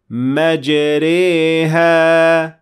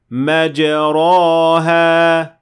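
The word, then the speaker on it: مجريها: Notice that we said مَجْرِيهَا, not مَجْرَاهَا. That is an alif, so it is not correct. And I did not say مَجْرِيهَا, because that would then be a ya.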